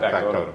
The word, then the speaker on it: Factotum: Because in is it Factotum? Is that how you say it? Yeah, Factotum.